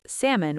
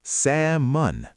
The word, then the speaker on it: salmon: Many learners pronounce salmon with the L. But the L is silent. It's salmon.